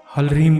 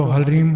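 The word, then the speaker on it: ह्रीं: करना है याद रखिएगा हल रिम इस मंत्र को हरीम कहा जाता है तो हरीम हरीम इस मंत्र का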